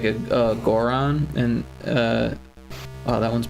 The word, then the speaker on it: Goron: you can hear it it's not a Goron or Goron Goron I like to call them gorons even though I know everyone pronounces it Goran Goron Goron the gore